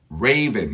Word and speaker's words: Raven: The Raven here again this e gives its power to the A and we say Raven nope Robin Ray Ray the long sound of a vowel is its name a e i o